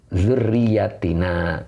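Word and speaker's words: ذُرِّيَّتِنَا: Nah, kemudian, dzurriyatina itu boleh dibaca dua qiraat, boleh bil jam'i dzurriyati, ya, berarti mu'anas, jama' mu'anas salim. Boleh juga wal ifrodi, dibacanya mufrad, dzurriyatina, gitu, panjangnya di na-nya, begitu ya.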